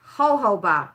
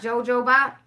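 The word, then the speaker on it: jojoba: It's pronounced ho-ho-ba. Oh, okay, so it's not jojo-ba?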